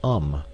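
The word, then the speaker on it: homme: bark he learned from darno that it was pronounced um and in the same way he was taught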